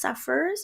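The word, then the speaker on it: Sapeurs: So we should hopefully be seeing the Congolese, I think it's Safars is how you pronounce it, which are the beautiful Sapphic women of the Congo.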